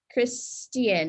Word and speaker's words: Christian: Christian instead of Ch, Christian is pronounced with a T.